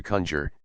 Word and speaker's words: conjure: By letters conjuring to that effect, the verb to conjure, in the sense of to supplicate, was formerly accented on the first syllable.